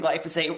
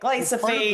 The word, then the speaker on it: glyphosate: I mean, people are still pronouncing glyphosate wrong. I think they're calling it like glyophate.